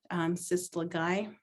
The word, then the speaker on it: Sislagai: Sislagai is the concho belt. And I know that's how we pronounce it from where we are from, Sislagai.